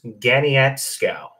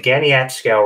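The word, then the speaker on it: Caniapiscau: And I was told that that's pronounced Ganiatskow. So I'm going to say Ganiatskow Reservoir.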